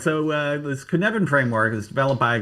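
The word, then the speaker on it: Cynefin: It's called Yeah, it's called the Kunvan framework. It does not It's a Welsh word or something. Anyways, all right. So, uh this Kunvan framework was developed by a guy named Dave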